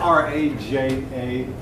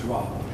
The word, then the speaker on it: Raja: Well, it's spelled R-A-J-A, but I believe it's pronounced Raha.